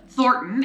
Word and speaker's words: Thornton: governor of Colorado and the n in it is kind of silent I just say Thornton not foreign I can't even say Thornton so it's Thornton it is a 20